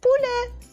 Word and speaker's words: poulet: Poulet. Poulet. Donc, pou, c'est facile en 3 lettres. Hein? Lait, c'est le est dans poulet. S'écrit avec un ET. Mais se dit est.